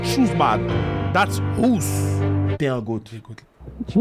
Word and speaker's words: Houssbad: Lui aussi, le H, on ne prononce pas dans Ousbad. Dites pas Chousbad, that's not Chousbad. That's Ous.